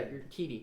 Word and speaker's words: Urquidy: One of my favorite players on his team is, I have no idea how to pronounce it, but Urquidy or something like that. You're Quiddy? Urquidy. Urquidy. Yeah, Urquidy.